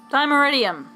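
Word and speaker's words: Dimeritium: Dimeridium. There we go. Now we know how to pronounce it.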